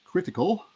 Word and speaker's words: krtkl: co-founder and ceo for critical which is hard to pronounce but apparently you should pronounce it as critical um he's from san